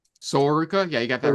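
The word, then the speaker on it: Sol Ruca: Am I pronouncing that right? Soruka?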